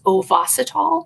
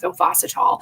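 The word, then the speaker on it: Ovasitol: then also there's a supplement through theralogics called ovacitol it's spelled o-v-a-s-i-t-o-l and that one is really good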